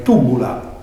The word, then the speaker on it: Tybula: si studia sul latino, sa Y greca si legge come una I, in modo però adesso tutto imbagliato. È proprio una vardina manna meda, proite, che un conto è narrare tibula e un conto è narrare tubula.